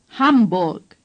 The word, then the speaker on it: Hamburg: The R is hardly pronounced. Dort. Say, Dort. The U in Mund is like the U in Hamburg.